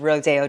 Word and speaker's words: Rodeo: About a year ago, I took to the streets, the streets of Rodeo Drive, Beverly Hills. I don't know why it's called Rodeo when it's spelled Rodeo Drive, but anyhow, the place is bustling with LARPers, young people pretending to be rich.